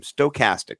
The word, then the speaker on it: stochastic: I put the K in front of it. My mind is. I think I read it wrong the first time. Stochastic.